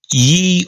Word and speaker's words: ye: The Y in signs reading ye old is properly pronounced with a th sound, not y.